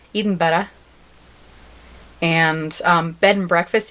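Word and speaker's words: Edinburgh: learned these two things how to say the Edinburg it's Eden better and um bed and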